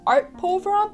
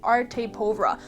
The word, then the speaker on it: Arte Povera: It's spelled A-R-T-E, and I thought it was Arte Povera, but it's actually Arte Povera.